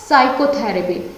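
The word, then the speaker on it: psychotherapy: एस से देखिए साइकोथेरेपी, तो मैंने पी को छोड़ दिया, यानी पी इसमें क्या है, इसमें पी हो जाता है साइलेंट। समझ में आ गया, क्या बोलेंगे हम इसको, साइकोथेरेपी, ठीक है, साइकोथेरेपी।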